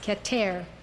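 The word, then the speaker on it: Keter: noun horse fie wrote is called cat air expelled ket er pronounced cat air it means crown as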